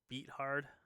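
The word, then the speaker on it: Beathard: this offense you know excuse me beat hard is how I think you pronounce his name ex exactly but yeah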